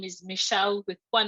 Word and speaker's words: Michele: People will just pronounce it Michele, but at least I'll know that it's, Michele.